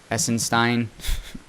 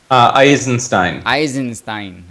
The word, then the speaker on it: Eisenstein: I don't know how you pronounce his last name. Essenstein. Sacred Economics. Look up Charles Sacred Economics on YouTube. Eisenstein.